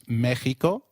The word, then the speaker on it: Mexico: Did you notice that the X in Mexicano is pronounced as H? While X is usually pronounced as X inflexible, it is pronounced as a throaty H in the words Mexico, Mexicano, and Oaxaca, which is a state in Mexico.